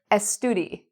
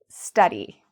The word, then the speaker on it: study: They say estudi instead of study.